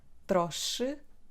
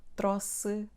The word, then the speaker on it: trouxe: I gave three answers- /trosh/, /tros/, or /troks/? Let's learn how to pronounce this word correctly. welcome and let's get started. So the correct answer is the second one- /tros/.